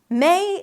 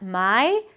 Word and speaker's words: May: You start with an M sound, then it's the A as in day. May. Start with an E, then shift to an E. Not my, but may.